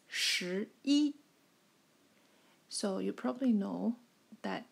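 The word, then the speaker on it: 十一: just gave to you sure e it's just a combination of for sure and E which makes sense isn't that ten plus one that is 11 that is sure eat I'll write again here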